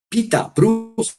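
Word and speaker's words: Pieter Bruegel: e hijo uno es Pedro bruegel que se pronuncia Pita bru que es el padre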